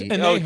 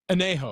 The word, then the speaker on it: añejo: Can I, speaking of Bacanora, the one that Anejo, can you pronounce that for me, please? It's Anejo. Oh, J, sorry. Anejo.